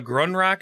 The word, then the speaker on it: Grunrak: Grunrak. Gonrak. Grunrak. Ronrak. Like that. You fucking elves can't pronounce anything dwarven right because your tongues don't work that way. I'm sorry, I'm doing my best. The bad thing is, Mr. Grunrak, is it? Run. There you go. That's good.